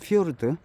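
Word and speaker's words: fjord: " 피요르드 " 라고 발음 하는 것 은 아니지만 , 현지 언어 에서 는 'j' 가 'y' 소리 로 발음 됩니다 . 그러니까 , "fyord" 입니다 .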